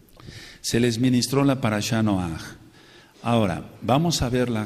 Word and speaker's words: Noaj: el nosotros sa ve pronunciamos mal y lo reconozco noaj no es no con acento en la o él eh No sé